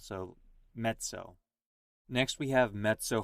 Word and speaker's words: mezzo: two Z's and Pia so it gets more of a TS sound so met so next we have met